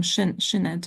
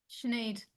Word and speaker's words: Sinead: All right, and then we have a hand up, and sorry, I always mispronounce this name, Shinet, right? Sinead. Sinead, yes.